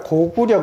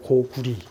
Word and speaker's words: 고구려: 이거 내 얘기하대요 그 우리가 고구려 그러잖아요 고려 근데 사실은 이게 그렇게 발음하면 안 된다는 거예요 그 고구려가는 고구리 구리 이번에 한자 자전에 나라 이름을 쓸 때는 리드 읽는다고 조선시대까지도 나오거든요 근데 우리는 다 고구려